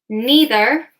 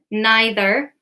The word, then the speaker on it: neither: We have neither, or this can also be pronounced neither. So neither or neither, either or either, and both. It doesn't matter how you pronounce them. Either, either, neither, neither. It's all correct, okay? You can just choose whichever one you like.